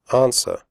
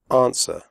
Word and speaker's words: answer: Answer. The W sound is silent. Answer. Do not say answer.